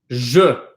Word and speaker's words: je: So for example, usually 2-letter words are pronounced as E. That's usually how, if there's a 2-letter word and it has an E, that E is going to be pronounced as an E. Okay? So I'll give you some examples of pronounced as an E. Sorry. I'll give you some 2-letter words as an example. So this one we've seen a million times in the class. Je. Right? This is je.